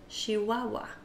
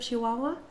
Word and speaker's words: Chihuahua: in the region of Chihuahua hear them say not Chihuahua muchacha all harsh but they say it very soft what are other ways